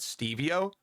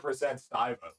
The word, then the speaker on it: Stivo: Wait, is it Stivo this whole entire time, not Stevie-O? It's 100% Stivo. It's Stivo. I'm actually an idiot. I've been calling you Stevie-O the whole entire time.